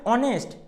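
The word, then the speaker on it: honest: বলা হয় দেখো এক্সাম্পল দেখলে বুঝতে পারবে এন্ড অনেস্ট এন্ড আওয়ার এই যে দেখো এখানে অনেস্ট আওয়ার আমরা দেখো এইচ উচ্চারণটা উৎস আছে মানে কি অনেস্ট এবার কি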